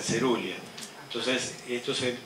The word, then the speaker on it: coerulea: Coeruleo, cerulia, se dice, entonces Celogyne viene de coelogine. Coeruleas, vieron que se dicen cerulia.